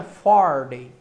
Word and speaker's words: Faraday: Se você for traduzir, o jeito de pronunciar corretamente é Faraday, ok?